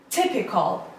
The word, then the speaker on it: typical: is the typical typical typical typical it has three syllables and the stresses on the first level typical call it's the schwa sound Col typical means usual